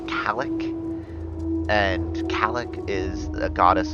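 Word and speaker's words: Cailleach: The first one, I believe, is pronounced Kalik, and Kalik is a goddess associated with winter.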